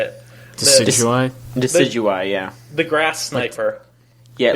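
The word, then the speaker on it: Decidueye: Decidui, yeah. The grass sniper. Yeah, it's like deciduous. Yeah, thank you. Decidui. Yeah. Like the tree.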